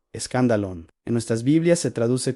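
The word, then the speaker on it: σκάνδαλον: La palabra es scandalon, se pronuncia escandalon.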